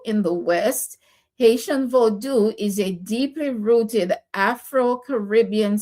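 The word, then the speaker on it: Vodou: Haitian vodu. And by the way, it is not voodoo like they pronounce it.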